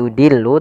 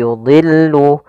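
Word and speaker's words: يضل: pada lafal yudillu D di sini huruf Istia termasuk huruf tafkhim maka dia tetap dia ditebalkan bukan yudillu tapi yudillu kemudian lamnya tipis yudillu bihi katsiro pada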